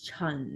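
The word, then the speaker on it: 陳: Like very like wildly known in American as Chan. Yeah. Chan. Is Chun in Cantonese. Chun. Like even Chan is like CHAN or CHEN. Then how do you say Chen in Mandarin? Chen. Chen. Chen Chenglong.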